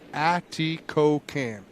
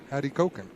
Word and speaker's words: Atikokan: Adam, it is pronounced Atikokan. Atikokan.